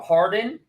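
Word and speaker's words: Hawarden: it's important it's it's it's different than it's pronounced it's howardin or Harden but it looks like hog Warden but so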